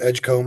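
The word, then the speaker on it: Edgecombe: freshman Baylor's got the Edgecomb I believe is how you pronounce it uh um pretty highly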